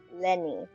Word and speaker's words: Lyney: And then Lenny. So the English is pronounced as Lenny. French is pronounced obviously different.